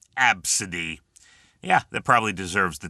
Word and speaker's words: Abcde: It's pronounced Absidy. It's phonetically ABSUHDEE. Okay, it's pronounced Absidy, but it's spelled ABCDE. That's right. First 5 letters of the alphabet. That's the name, Absidy.